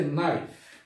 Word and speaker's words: knife: এরপর হচ্ছে নাইফ, কে এন আই এফ ই। নাইফ শব্দের অর্থ আমরা জানি ছুরি। এখানেও কিন্তু কে লেটারের উচ্চারণ হয়নি, কিন্তু আমরা লিখতে সময় অবশ্যই কে বসাতে হয়েছে।